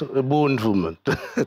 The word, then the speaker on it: Ubuntu: I sounded like somebody who's not African. Ubuntu, it's Ubuntu.